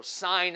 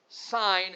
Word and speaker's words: sine: abbreviated short for sign so it is pronounced sign and not sin so comparing this pair